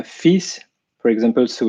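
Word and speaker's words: fils: we have uh the the letters f-i-l-s it can be pronounced uh fees for example so it's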